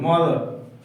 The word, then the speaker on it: mother: তাহলে এখানে আর এর উচ্চারণটা কম হবে, মাদার।